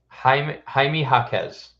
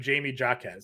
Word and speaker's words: Jaime Jaquez: Jaime Jaquez. So that's what I swore it was too, but I also just watched another stream that just called him Jamie Jaquez.